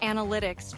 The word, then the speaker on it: analytics: I find words like analytics tricky, especially because the stress is on the second syllable.